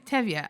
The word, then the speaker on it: Tevye: LeeAnn Douglas: Yeah, I don't know how to pronounce his name. Is it Tevi? Zachary Hines: Tevye. LeeAnn Douglas: Tevye.